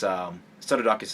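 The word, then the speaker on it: Psarudakis: Was to establish and affirm this alliance between this kind of trinity between Pseudodocus, which, by the way, it's Pseudodocus is spelled P-S.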